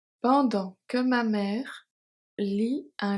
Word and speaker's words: pendant: Un château de sable, un château de sable, so sable, the E is silent, pendant que ma mère lit un livre. Pendant, the T at the end is silent.